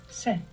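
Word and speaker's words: sé: Se. Se. Ah, I have. From haber is spelled H-E.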